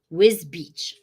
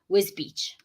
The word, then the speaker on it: Wisbech: Okay, someone's teaching me how to pronounce it. Wisbech. Okay, Wisbech.